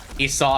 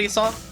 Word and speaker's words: Esau: Esau.